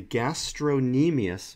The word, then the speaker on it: gastrocnemius: knee meais so the gastro knee meais muscle the C is silent is the belly of